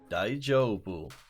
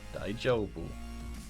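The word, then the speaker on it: 大丈夫: the pronunciation of it daijoubu so I think a bit longer on the old I joke it's like g jo ii like the name Joe daijoubu ah Playboy's never seen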